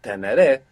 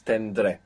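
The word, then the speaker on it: tendré: syllables instead of three it would be tenere but it's tendre which just makes everything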